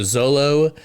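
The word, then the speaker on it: Xolo: Uh it's uh X O L O. So, Zolo Maridua.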